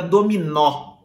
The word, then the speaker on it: dominó: um jogo idoso aí quem gosta de jogar dominó sabe que dominou tem acento no ó no último ó se eu tiro esse assento de dominó eu vou ter ali o verbo o verbo domino domino Olha só o fechado porque não tenha sempre Dominó O aberto que tem um acento então quando eu digo